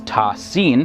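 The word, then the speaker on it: Ta Sin: term ta and sin which are written as single unit and pronounced together as tasin the first letter appears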